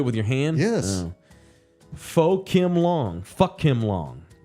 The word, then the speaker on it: pho: Pho Kim Long. Fuck him long. LG says it's pronounced pho. It's pho.